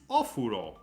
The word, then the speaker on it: お風呂: Joy says the last word is ofuro. Easy, right? お風呂 Yeah, is right, but the pronunciation, I was using a wrong pronunciation. It's not ofuro, is お風呂 ofuro. お風呂お Ofuro. 風呂 Ofuro, which is bathroom.